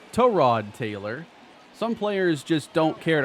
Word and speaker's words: Tyrod Taylor: I remember when the article came out about, you know, Tyrod Taylor and how his name was supposed to be pronounced Tyrod Taylor.